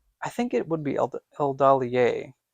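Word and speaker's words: Eldalië: Or Eldalier? I think it would be Eldalier, because it has the two dots over the E.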